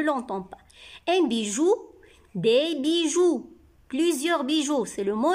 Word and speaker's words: bijoux: pas un bijou des bijoux plusieurs bijoux c'est le mot est au pluriel x ici ma c'est la marque du pluriel ou ne prononce pas x alors libye joue